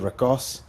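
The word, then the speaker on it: Rhigos: in the podcast, we spoke at some length about how Rigos was pronounced, and we came to the conclusion that there was many ways. Locally, it's the Ricos, but if in written Welsh it's pronounced slightly different again.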